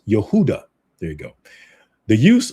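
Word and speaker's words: יהודה: Jehoiachin is uh is named with his former title, King of Judah, in Hebrew. It is pronounced as Yehudah.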